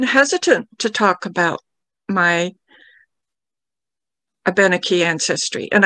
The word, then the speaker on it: Abenaki: And I'm purposely using the pronunciation of Abenaki rather than Abnaki. People use one or the other. But I prefer Abenaki because it's more of the Algonquin pronunciation of those letters, whereas Abnaki, I feel, is more of an English pronunciation.